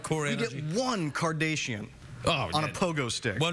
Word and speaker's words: Kardashian: Why are you saying Kardashian? How do you say it? It's Kardashian. You're like one of those newsreaders that says Nicaragua, like that.